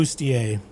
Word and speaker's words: bustier: bustier. That works. I That's like not that. how bustier is spelled, but I like the effort.